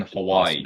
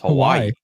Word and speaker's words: Hawaii: the ey that much it's Hawaii Hawai huh you just add an i at the end there's two eyes in Hawaii wait how do you